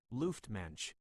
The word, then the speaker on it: Luftmensch: A Luftmensch, pronounced Luftmensch, is a Yiddish term that literally translates to air person or.